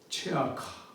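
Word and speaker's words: צְעָקָה: 정의는 미스파트, 포악은 미스파 이렇게 발음이 됩니다. 비슷하죠? 또 공의의 체다카라는 이 언어, 이 표현은 이 부르짖음, 체아카, 체다카, 체아카 이렇게 너무 비슷해서 정의를 찾는데 포악이 나타났고 공의를 찾는데 부르짖음이 나타났다 이렇게 표현하는 겁니다.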